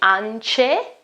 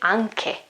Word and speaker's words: anche: Also in this case, I won't say ance, C and E, I won't say ance. I've got an H here in the middle, and so I say anche. Pronounce it k.